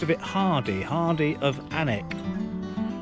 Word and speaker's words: Alnwick: it hardy hardy of anak allnuic pronounced i believe anik because i like quality